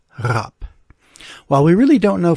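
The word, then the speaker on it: rape: hadn't been invented yet scholarly research leads most linguists to believe that it was indeed pronounced rap which was related to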